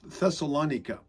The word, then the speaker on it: Thessalonica: uh th thessalonica it's thessalonica to pronounce it the Greek way anyway that's neither here